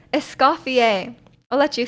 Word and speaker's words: Escoffier: Yeah, it's Escoffier. Yep. It's French.